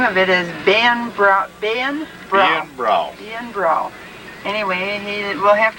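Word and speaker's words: Beinn Bhreagh: Bill named his summer refuge Bain, pronounced Ian Brow. Ian Brow, for beautiful mountains.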